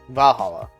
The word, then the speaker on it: Valhalla: VA-11 Hall A, Valhalla. The name sounds silly and a bit hard to pronounce. Good thing it's actually called Valhalla. The funny numbers and letters are just a code.